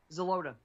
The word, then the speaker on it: Xeloda: that you mentioned that I don't want to pronounce wrong? Xeloda, yes.